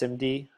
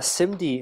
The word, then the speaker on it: SIMD: simd I always PR I think it's pronounced simd casually but this is instruction